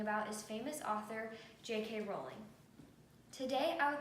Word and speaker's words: Rowling: to call her JK Rowling when the correct pronunciation is actually JK Rowling thus the nickname the rolling pin from the age of